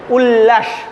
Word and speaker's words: উল্লাস: উল্লাস শব্দটা দেখো এটা দ্বিত্ব ব্যঞ্জন, মাঝখানে যে ল শব্দটা আছে ল বর্ণ, ল বর্ণটা 2 বার উচ্চারণ করা হচ্ছে উল্লাস।